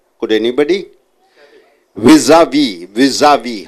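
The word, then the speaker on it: vis-à-vis: How do you pronounce? Vis-a-vis.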